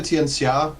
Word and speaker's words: Tianxia: It's technically Tianxia, but most people will say it Tianxia because they're kind of used to seeing the XIA with an SH sound, and I've been taught that that's incorrect.